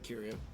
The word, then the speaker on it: Curio: Listen, this time I said it right, Curio.